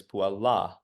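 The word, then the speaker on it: puellā: The little dash over the A in the ablative singular indicates that it should be emphasized just a little bit more when you pronounce. So the nominative singular is puella, and the ablative singular is puella.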